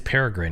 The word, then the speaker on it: Peregrine: It is Peregrine, guys.